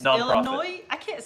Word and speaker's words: Illinois: Illinois?